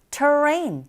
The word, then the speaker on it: terrain: 자, 여기서도 마찬가지 terrain R 사운드가 들어가 있기 때문에 자, 이 혀의 위치가 입안에서 어디에도 붙지 않고 이렇게 중간에 떠 있는 듯한 느낌으로 말아서 발음해 주시면 돼요.